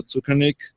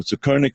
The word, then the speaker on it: Tzukernik: Shimona Tzukernik, or Tzukernik rather. You can pronounce it either way, I think, but she's considered